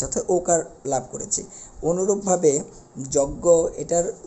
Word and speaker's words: যজ্ঞ: বিষয়টি আমরা আরেকবার বলি যে শব্দের শুরুতে যদি অ থাকে এবং এরপরে যদি এই দুটি যুক্তবর্ণ আমরা পেয়ে থাকি একটা যুক্ত খ আরেকটা হলো বর্গীয় যোগ যোগ ইয় এবং এই দুটো যদি উল্লেখ থাকে তাহলে অ এর উচ্চারণটা ও এর মত হয়ে যাবে যেরকম অক্ষটা অক্ষ কক্ষ